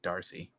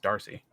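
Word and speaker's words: D'Arcy: I think it's just Darcy Darcy yeah but you don't have to pronounce the apostrophe yeah but I think it's pronounced Darcy okay well I'll go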